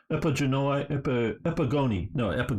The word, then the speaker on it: Epigoni: least the Diadochi and the Epigenoi, or however you say it, wrote it down, Epigoni, that's how you say it, which is the sons of these guys.